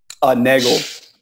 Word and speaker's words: Neagles: Neagles. Neagle. Okay, cool. Like the Eagles.